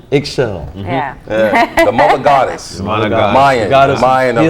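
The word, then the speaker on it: Ixchel: It's spelled Xichl. Eggshell.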